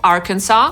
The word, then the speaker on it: Arkansas: Podsumowując, niektóre nazwy amerykańskich stanów mogą być kłopotliwe, nie wszyscy wiedzą, jak je poprawnie wymawiać. Te najtrudniejsze moim zdaniem to Arkansas /ˈɑːrkənsɑː/, Connecticut /kəˈnet̬ɪkət/, Illinois /ɪlɪˈnɔɪ/, New Hampshire /nuː ˈhæmpʃɚ/ i Rhode Island /roʊd ˈaɪlənd/.